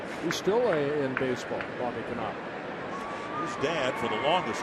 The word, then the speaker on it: Knoop: Now, did you follow him closely enough where you would have pronounced Bobby Knopp's name correctly? Or would you have said Bobby Knoop? No, Knopp. You would have said Knopp.